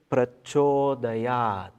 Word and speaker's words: Prachodayat: Okay, the letter C in the romanization is always pronounced as Ch. Okay, Prachodayat.